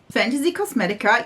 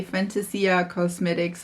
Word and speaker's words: Fantasy Cosmetica: Fantasy Cosmetica. Yes, I did it. Listen, I'm always excited when I say it right. Correct. And don't say fantasia cosmetics or something like that.